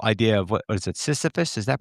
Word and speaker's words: Sisyphus: Well, it also comes to, like, the whole idea of what is it, Sisyphus? Is that pronounced correctly? The, like, Syphilis? no, Sisyphus, the pushing the boulder up the hill, and then you get Mm.